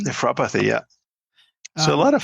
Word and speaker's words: Nephropathy: The reversal of diabetic, how do you pronounce that? Nephropathy? Nephropathy, yeah.